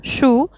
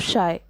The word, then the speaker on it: Scheu: People mispronounced the entire name Scheu, commonly saying it as Scheu instead of Shy.